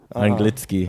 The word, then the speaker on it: anglicky: Oh, it's Anglitsky.